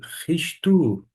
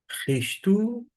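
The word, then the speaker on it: Χριστοῦ: concordância, ômicron Y, que vai ter uma pronúncia equivalente ao nosso U, de modo que eu vou ler Ristu, e aqui Yesu, Yesu, Ristu, Yesu.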